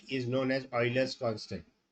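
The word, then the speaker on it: Euler: e is known as Oilers constant e u i l e r Oilers constant okay you have to pronounce it as Oiler and it is written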